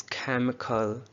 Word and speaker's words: chemical: Okay, the next word that we have over here is chemical. Chemical. इसमें आई को silent किया. Chemical.